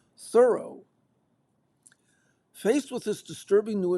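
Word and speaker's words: Thoreau: Eric said she said Henry David Thorough and we said the correct pronunciation is thorough.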